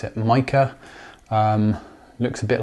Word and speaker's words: Meike: is me i k Chinese brand I think they pronounce it maker in their videos other people will pronounce it Mah um looks a bit